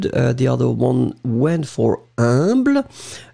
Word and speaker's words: humble: The other one went for humble. So remember that pronunciation of U and M together, it's a nasal, like in parfum.